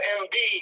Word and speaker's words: Embiid: You was talking about a young man with the 76ers, Joel, how you pronounce his last? Embiid.